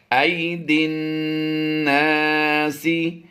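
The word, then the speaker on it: أيدي الناس: ज़हरल फ़सादु fill बर्रि वल बहरि बिमा कसबत ऐदिन, दाल नून से दिन, या अलिफ और लाम ये साइलेंट होंगे। ऐदिन नासी लियुज़ीक़हुम बअदल्लज़ी, लियुज़ीक़हुम, मीम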